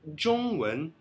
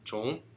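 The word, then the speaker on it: 中文: chinesa em chinês é Zhongwen na China. Zhongwen, Zhong, o ZH, ZH o NG primeiro tom, Zhong, Wen, WEN segundo tom.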